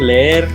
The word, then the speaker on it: leer: For example, like you were saying, leer, you have to pronounce both E's.